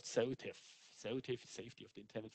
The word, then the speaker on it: SOTIF: not at least the acronym is easy to pronounce it's called seltif selective safety of the internet functionality and the